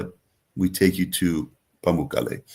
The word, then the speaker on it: Pamukkale: Yeah, and the I'm not going to pronounce it right. The how do you say the Pamukkale. pools? Pamukkale.